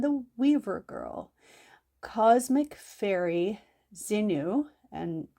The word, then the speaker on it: Zhinu: So in the beloved Chinese folk tale, The Cowherd and the Weaver Girl, cosmic fairy Xinu, and it's spelled Zhinu, comes down to earth and marries a cowherd, Niulang.